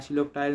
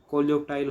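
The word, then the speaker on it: coleoptile: पटाइन ओ sorry इसका इसकी जो उच्चारण है सिलो पटाइन ना होके कोलिप टाइल होगा क्या ये कोलिप काइल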